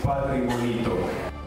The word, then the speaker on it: Patrimonito: It's difficult, maybe for Vietnamese people to pronounce, because it's a Spanish name. It's Patrimonito.